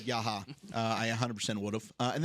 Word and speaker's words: Yahya: YA says YA. YA. Like that's how it's spelled. It's YAHYA, and it's pronounced YA.